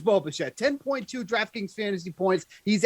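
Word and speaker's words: Bichette: and like you said it does rhyme with schmo machete it is boba shed 10.2 draftkings fantasy points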